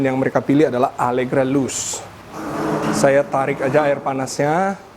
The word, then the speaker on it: Luce: review mendetail nih Allegra loose ini lu C bacanya loose Ya seperti kita baca Bruce BR u c e Bruce and loose nah loose itu artinya